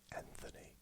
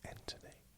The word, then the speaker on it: Anthony: And outside of Dyson Furion, Anthony Joshua, some people say Anthony. No, Anthony. The H is silent.